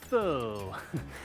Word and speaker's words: faux: It's pronounced faux.